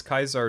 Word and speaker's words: Caesar: is it just because kaisar is the Latin pronunciation of the name oh okay I mean